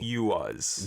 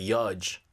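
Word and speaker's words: YUHZ: So it's spelled Y-U-H-Z. Y-U-H-Z. Y-U-H-Z. You-us. You-us. Yeah. I would have thought it's like Yudge.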